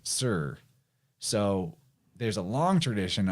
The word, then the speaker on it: Tyre: It's spelled Tyre. Most people will say it's Tyre, but they pronounce that as Sur.